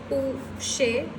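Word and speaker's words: poché: It is spelled a little different and pronounced a little different. So the spelling is pouche and it is pronounced pouche.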